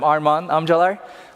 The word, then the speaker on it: Arman Amcalar: I'm Arman Amcalar. That's the correct pronunciation of my name.